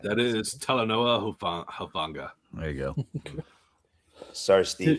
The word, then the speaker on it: Talanoa Hufanga: I'm not gonna try to pronounce this guy's name. Trey? Funga. All right. That is Talanoa Hufanga.